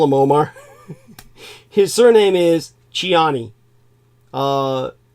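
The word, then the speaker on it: Tchiani: Omar just call him Omar his surname is chiani uh t c h i a n i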